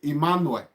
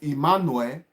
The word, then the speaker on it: Emmanuel: In English, they will say Emmanuel. No. If you say it Emmanuel of Deutsch, it's like you are starting with I.